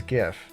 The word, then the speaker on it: GIF: extension or image format I used to say GIF with a hard G um and then I found out that the Creator prefers GIF with a soft G and now I